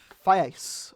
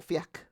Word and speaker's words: Fiacc: Anyway, so our first entry for today is going to be Saint, I believe it's pronounced Fiacc, or Fiacc, and he is from the 5th century.